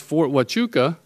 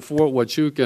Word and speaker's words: Fort Huachuca: Yet, around, I think it's pronounced Fort Huachuca, they have drones and other devices that are incredibly effective.